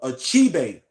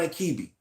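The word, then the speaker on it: Achebe: I was mispronouncing it it is called a chibate not akibi achibe um is still alive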